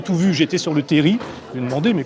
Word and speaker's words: terril: C'est aussi à ce moment-là que le mot terri rentre dans la presse et commence à mal se prononcer, terril. C'est également un mot picard. Mais on devrait prononcer sans prononcer le L.